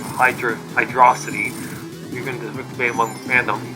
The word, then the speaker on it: Hydrocity: A word of God, when Yuji Naka, the game's producer, was asked about the pronunciation of Hydrocity, even the debate among fandom, he stated that it's Hydro City.